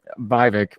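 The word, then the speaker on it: Vivek: you know even uh viik rhymes with fake rhymes with cake you you can tell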